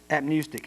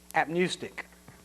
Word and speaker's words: apneustic: active however oh now you might need to spell that i'm sorry apnewstick ap n-e-u-s-t-i-c a-p-n-e-u-s-t-i-c apnewstick i'm proud of myself for several years i've